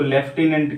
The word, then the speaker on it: lieutenant: इसी तरह से अगला एग्जाम्पल है लॉर्ड ल्यूटिनेंट या लेफ्टिनेंट बोलते हैं, लॉर्ड LIEUTENANT, लॉर्ड ल्यूटिनेंट, जिसको लेफ्टिनेंट कहा जाता है, ठीक है, वो वही वर्ड।